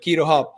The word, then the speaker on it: QuiroHub: to to quito hub it's not cairo because it's not c-h-i is is uh that's why we pronounce it quito hub yeah so in keto